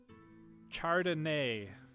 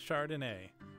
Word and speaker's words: Chardonnay: But yes, so that's Chardonnay. And you can look at the lettering and see, like, the last one, N-A-Y, that makes the nay sound.